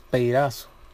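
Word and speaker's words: πειράζω: Pero la palabra tentado del griego es peirazo. Peirazo. Peirazo. Con acento en la peirazo.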